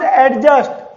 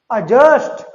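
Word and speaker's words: adjust: पढ़ते थे पहले, एडजस्ट, बट इट इज not pronounced एडजस्ट, अजस्ट, अजस्ट।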